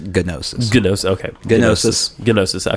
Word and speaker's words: gnosis: I found a cache of programs called nosis g n o s i s which I think means wisdom or something it's pronounced gnosis Ginos okay gsis gnosis I found a cach